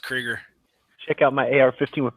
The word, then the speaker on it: Krieger: Although, I don't know, Cracker, like maybe it's like, Cracker. It's going to break. It's called Krieger. It's pronounced Krieger.